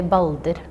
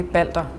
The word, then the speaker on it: Baldur: So like the L and the R are pretty much like either there or just not there completely, depending on where you're from.